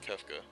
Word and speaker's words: Kefka: don't know how you I guess I I pronounce it Kafka but I've heard it pronounced kefa you never kefka had